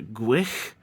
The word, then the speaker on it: Gwyll: Next is the henchman, Gwyll, or according to the Welsh pronunciation on Google, Gwyll. I'm only going to call him Gwyll from now on.